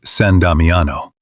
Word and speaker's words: San Damiano: The sisters settled at San Damiano, pronounced San Damiano, a small half-ruined chapel just outside Assisi's walls,